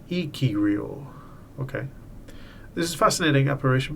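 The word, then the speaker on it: ikiryō: describe the living ghost of Icarus pronounced ikirio okay this is fascinating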